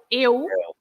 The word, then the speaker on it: eu: Eu. Right? Yeah. Eu. Some people don't pronounce it very well. It's eu. I'm not saying it's you, but some people.